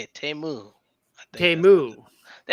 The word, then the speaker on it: Temu: Temu.